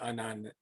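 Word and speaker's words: unun: And Max just explained why un-un is pronounced that way. It's spelled UN for unbalanced to unbalanced.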